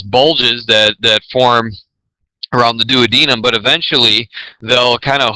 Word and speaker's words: duodenum: of the small intestine called the duodenum not duodenum very commonly mispronounced medical term okay and then essentially